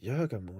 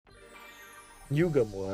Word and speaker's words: Yugo: I need to trust Yagamu and wait. Yugo, actually, not Yagam.